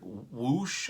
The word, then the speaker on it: Whoosh!: I've heard it whoosh, I've heard whoosh. I'm saying it whoosh, like it rhymes with bush.